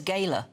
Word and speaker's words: Gala: He says it's pronounced the miners's gayla. It is actually, isn't it? Gayla, not Gala.